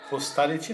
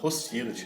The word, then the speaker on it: hostility: Então, hostility não, hostility, né? Ele não fala claramente que isso é um erro, mas ele coloca isso como se fosse um erro.